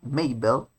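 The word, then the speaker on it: Mabel: may del la hermana que se pronuncia maybelle es la mezcla de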